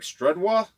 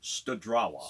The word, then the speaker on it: Studrawa: And how that group is playing in Greg Studwa, is that how we pronounce it? Studrawa.